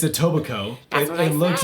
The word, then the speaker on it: tobiko: was uh-huh do you want to try to pronounce it it's a what it's a book Coco no it's a tobiko it looks like it looks like Etobicoke k--